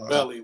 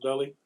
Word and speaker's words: Beli: more entertainment so so it's pronounced belly we was talking about that it's pronounced belly king belly yes pronounced billy i